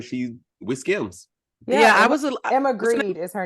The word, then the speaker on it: Grede: Yeah, Emma Grede is her name. Emma Grede? Yeah. Like money? Like her last name is spelled Grede. Oh, Gred. Okay. I thought you meant like Greed.